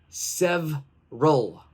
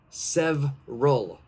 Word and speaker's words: several: letter is silent okay if you guessed the second e the second e so s-e-v-e that second e that's correct that letter is silent please do not say